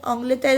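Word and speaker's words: l'Angleterre: अब आ जाते हैं इसकी स्पेलिंग पे, स्पेलिंग आपको दिख रही है, ऑंग्लेटर इसको बोलते हैं प्रोनाउंसिएशन में, ठीक है।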